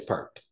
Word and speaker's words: Peart: Neil Peart. It is perked.